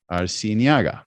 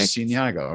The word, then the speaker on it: Arciniega: Now we have another individual here it's Faith Arciniega, right? As I said it right? Yes. Okay, Perfect. Arciniega.